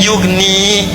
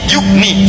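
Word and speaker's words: يغني: Ya-nya dibuang. Padahal asalnya bisa dibaca begini, yughni. Tapi karena ada in, ya-nya dibuang. Jadi yughni, cepat. Ada ya, bacanya panjang, yughni. Tidak ada ya, baca cepat, yughni.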